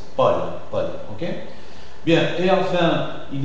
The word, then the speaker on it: Paul: AU c'est O fermé, mais je suis en train de passer aussi au prénom Pablo, Paul, ça s'écrit AU, et ça s'articule O ouvert aussi. Paul, ok?